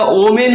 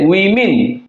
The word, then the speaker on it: women: দ্য ওম্যান এটা third person singular, কিন্তু যদি ওটা বহু বচন হয়ে যায় দ্য উইমেন, উচ্চারণটা ওমেন উচ্চারণ হবে না, WOMEN উচ্চারণ হবে উইমেন, ওমেন উচ্চারণ হবে না।